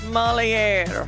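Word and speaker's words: Molière: Moliere.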